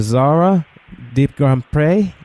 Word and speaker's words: Zora DeGrandpre: Zora DeGrandpre. Is I pronounce it correctly?